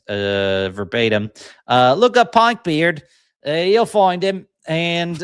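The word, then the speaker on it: Pynk Beard: Uh Pink Beard, if you're pronouncing it uh verbatim. Uh look up Pink Beard.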